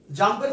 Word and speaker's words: XAMPP: তাহলে এটা তোমাদের জাম্প নামে যে সফটওয়্যারটা জানতে হবে, এটা তুমি ক্যালকুলেট কাজ করো জাম্প। Yes, thank you so much. এই জাম্পটা বানানটা হচ্ছে XAMP, XAMPP, জাম্প।